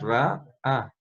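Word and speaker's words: רעה: Esta de acá también es muda. Entonces por eso le diríamos Ra, A, ¿listos?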